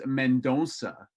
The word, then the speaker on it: Mendonça: it's of Portuguese descent, so it's Mendonça. If you want to go that route.